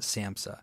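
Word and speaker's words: SAMHSA: yes s a m HS a yeah we pronounce it Samsa yep but that's a federal entity which actually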